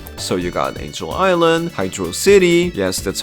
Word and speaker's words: Hydro City: So, you got Angel Island, Hydro City.